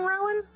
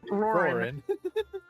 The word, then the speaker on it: Roran: Am I saying Rowan? Yeah, you were saying Rowan. My bad. It's totally not that. But no, they have it spelled correctly. I just can't read. Okay. I was I was making sure on that. I can say like Galvatric perfectly fine, but Rowan, no. Rorin.